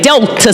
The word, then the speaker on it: Delta: to say it correctly you have to say dealt to Sigma Theta sorority Incorporated that way so we we love